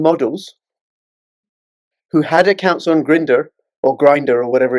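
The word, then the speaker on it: Grindr: He is pronouncing right. It is Grinder because you know, let's let's uh let's get in.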